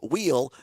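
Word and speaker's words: Weil: And Josh Wheel, yes, it's pronounced Wheel different than our CEO here at Civic. spelled the same as Sage Mile, but uh Josh Wheel the Democrat with 42.7% and 99% of the results are in there.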